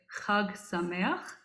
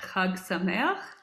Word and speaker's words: Chag Sameach: In Hebrew, we say Chag Sameach, which means a happy holiday. And in Yiddish, slightly easier to pronounce, we say Gud Yontif. So let's try that. Chag Sameach.